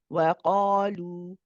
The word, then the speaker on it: وقالوا: most heavy, which means we do not say qa, we say qa. وَقَالُوا وَقَالُوا. However, sometimes the mistake that is made is the wow is made heavy too. But it's not supposed to be heavy, it's supposed to be light. So we say wa. Wa is nice and light.